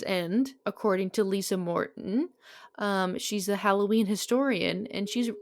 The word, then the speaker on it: sidh: I have no idea how it's pronounced she. It's spelled SIDH.